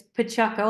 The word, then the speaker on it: Paciocco: name so thank you it's Pacho I know it's a difficult one we we have a car dealership here that's coko and it's spelled like almost the same way so